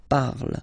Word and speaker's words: parle: it is je parle, parle. So remember, we put it, okay, but then we don't really pronounce it, je parle, okay.